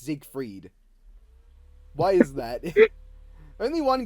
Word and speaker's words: Siegfried: the only game where the announcer pronounces his name in German like ziegfried every other time it's Zeke freed why is that only